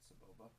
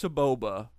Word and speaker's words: Sebulba: That's not Selbulba. You spelled it wrong. I'll spell it for you. It's right there. It's spelled nothing like you spelled it originally. Selbulba. I spelled it right. It's Sebulba.